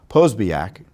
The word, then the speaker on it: Posobiec: Jack Posobiec, I keep on mispronouncing his name. Posobiec.